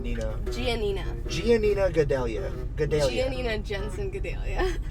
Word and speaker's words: Gianina: Janina Jensen Gadelha.